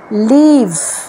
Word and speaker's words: leave: এইবার হচ্ছে লিভ, LEAVE। এই যে EA আছে না, এইটা কিন্তু সাউন্ডটা করছে ইলংগেটেড, সেই জন্যে এটার প্রোনাউন্সিয়েশন হচ্ছে লিভ। LIVE হচ্ছে লিভ, সেটা অনেক শর্ট।